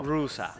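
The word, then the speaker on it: Roosa: Rusa, perdón. Sí, se escribe Rosa, pero sí, con doble O. Rusa, sí, se llama Rusa.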